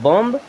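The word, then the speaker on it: bomb: इसे क्या पढ़ेंगे क्लाइम बी ओ एम बीय क्या क्या लिखा है बम नहीं इसे पढ़ेंगे बम क्या पढ़ेंगे बॉम चलिए यहां पर देखिए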